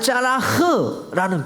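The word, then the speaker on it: צלח: 번영이라는 뜻인데 히브리어로 말하면 짜라흐라는 표현이에요. 이렇게 읽어요. 짜라흐.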